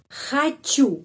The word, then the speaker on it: хочу: Хочу. Mau. Хочу. Penekanannya pada huruf U. Karena itu O pengucapannya A.